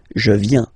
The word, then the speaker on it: viens: Remember this I, viens, viens, and then this nasal, final S not pronounced. Je viens.